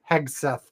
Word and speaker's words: Hegseth: Hagseth. Anyway, Hegseth.